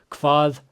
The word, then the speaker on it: hvað: Hvað kostar þetta? So let's break it down. Hvað, again, the HV is going to make that KV sound. And then we have another eth, so it's voiced. Hvað.